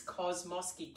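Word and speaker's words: Kosmosky: to say it wrong i apologize it's kosmoski k-o-s-m-o-s-k-y a kosmoski drum um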